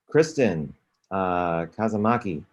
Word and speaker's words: Kristen Kazamaki: Kristen Kazamaki, I believe that's how it's pronounced, correct? That is correct. It's very phonetic.